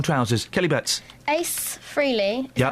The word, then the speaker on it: Ace Frehley: Ace Frehley, is how you say his name?